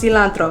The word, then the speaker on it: cilantro: And I'm like, guys, I'm not Spanish, so I feel weird saying it the Spanish way, but I know it's pronounced cilantro, okay?